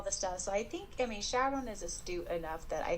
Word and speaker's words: Sharon: So For those of you that don't know, for my entire life when I've read this in my head, I have pronounced Sharon Shuron.